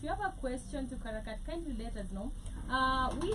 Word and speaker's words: Karakvrt: How should I pronounce the name? Karakvrt. Karakvrt.